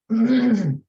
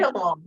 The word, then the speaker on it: labetalol: Labatol. What? What'd you say, Samantha? Labatol. Am I saying it right? Labetalol, yeah, some kind of antihypertensive.